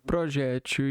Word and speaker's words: projétil: Projétil e projétil. Ambas as formas são corretas. Pode ser dizer projétil com acento na segunda sílaba ou projétil com acentuação na última sílaba, heptil, as duas pronúncias são corretas.